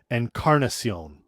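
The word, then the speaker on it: Encarnación: He's my favorite because when the Blue Jays had Bautista and Encarnacion, he'd always pronounce Encarnacion's name Encarnacion, like go hard with the break.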